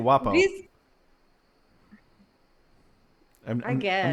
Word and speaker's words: Guapo: I said, am I pronouncing the G too hard? I always thought it was guapo. No, it's good. Yeah, guapo. Okay.